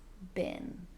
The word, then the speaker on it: been: past participle been more commonly pronounced as been.